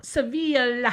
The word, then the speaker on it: Sevilla: And the Seville, is that how you pronounce it? Sevilla. Sevilla In Spain.